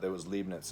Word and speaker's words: Leibniz: just like I was taught that it was Leibniz is how Leibniz is said.